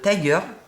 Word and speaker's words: Tiger: été dans un magasin qui s'appelle Tiger moi je vous prononce à à l'américaine c'est un magasin qui